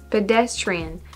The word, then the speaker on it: pedestrian: pedest pedestrians pedestrians pedestrian pedestrian so you emphasize the second one pedestrian this is hard pedestrian